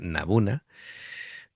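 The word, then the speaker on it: n-buna: Eh, claro, está este que quiero decirlo bien porque me ha dado incluso Luca la indicación de cómo se pronuncia, Nabuna.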